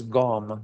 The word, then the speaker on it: gom: It's interesting, most of you know this, but in the Tibetan, the word for meditation is gom. G-O-M is how it's spelled in English.